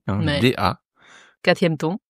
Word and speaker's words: 大: Da 4e ton. Personnellement, je le prononce comme un t.